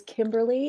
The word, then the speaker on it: Kimberly: It is Kimberly. It's the Royal Kimberly. It's pretty much the only formal thing about me. What's the Royal Kimberly mean? All 3 syllables, please.